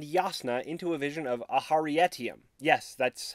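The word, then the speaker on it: Aharietiam: brings navani and yasna into a vision of aharietium yes that's how you pronounce it where we see humans fighting alongside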